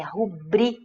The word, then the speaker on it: rubrica: Porque a pronúncia, a prosódia correta da palavra é rubri, bri, ou seja, ela é paroxítona, certo? A penúltima sílaba é a tônica.